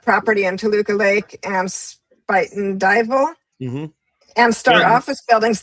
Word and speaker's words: Spuyten Duyvil: I don't know how to say it, but Spuyten Duyvil, devil. That in the Bronx. All that. Spuyten Duyvil. How do you say it? Spuyten Duyvil. Spuyten Duyvil? Yep.